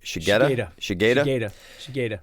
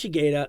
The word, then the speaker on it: Shigeta: So the first person I chose from Die Hard was James how do you pronounce his name? Shigeta.